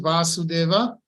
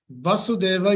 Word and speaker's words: Vasudeva: Why is he called Vasudeva? Primarily because he is the son of Vasudeva. In Sanskrit, there are, well, how to say it? I would say it this way. Vasudeva with short va.